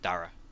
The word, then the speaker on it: Dara: Because, no, I think it's like the Irish pronunciation of it. Oh. But it turns out it was actually just Dara.